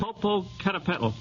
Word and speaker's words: Popocatépetl: Yes, but you'll have to pronounce it. Popocatépetl.